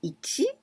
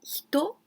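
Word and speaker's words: 一: And you can pronounce ichi or it or hito, and you need to put tsu in hiragana, hitotsu.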